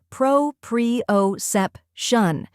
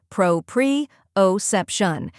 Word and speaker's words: proprioception: way to say it the correct pronunciation is pro PR oep Shan let's break it down first part Pro like Pro in professional second part pre O say it smoothly as one syllable preo third part sep shun sep like step and shun like function when you put it all together Pro pre otion let's practice together repeat